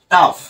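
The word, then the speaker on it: tough: দেখো তারপরে কি আছে টাফ টি ও ইউ জি H right দেখো এখানে কিন্তু ও ইউ জি এইচ কিন্তু কি সাউন্ড করছে আফ রাইট আর এই যে টি টা থাকার কারণে এটা হলো ট তাহলে এটা কি আসবে টাফ এরকম সাউন্ড করবে এই যে ও টা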